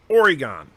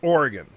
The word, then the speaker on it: Oregon: from the east coast he calls the state directly above California Oregon it's Oregon but many people call Oregon or and and it's very grating to people from Oregon so yeah I understand